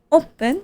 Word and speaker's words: åpent: Er vinduet åpent. Åpent. And that doesn't look like the word open, but it sounds like the word open.